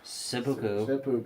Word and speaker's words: seppuku: Seppuku.